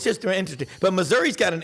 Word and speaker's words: Missouri: but Missouri has been please pronounce it Missouri people not Missouri um Missouri has been